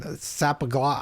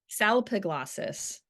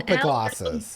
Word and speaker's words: Salpiglossis: Sapagla. I might even try. How do you say it? Okay. Salpiglossis. There's an L. Salpiglossis. There's too many L's in it.